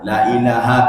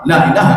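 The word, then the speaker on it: لا إله: Sebenarnya kan boleh bacanya panjang, apa namanya cepat, tetapi la-nya dipanjangkan sedikit. La ilaha illallah, la ilaha. Jangan la ilaha illallah, la ilaha itu salah.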